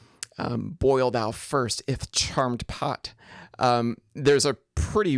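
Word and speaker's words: charmèd: of an editor putting putting that accent over Ed especially to make sure that it gets pronounced as a separate syllable uh to maintain the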